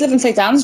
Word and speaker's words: Lytham St Anne's: Is it Lytham St Anne's? Is that how you say it? Yes, so it's Lytham St Anne's, just outside Blackpool.